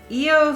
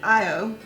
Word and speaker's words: Io: EO Thor's hammer. Ooh, super hot sauce. It's extreme. Oh. So this is not going to be me at all. No, but this sounds good. Okay, it's pronounced Io.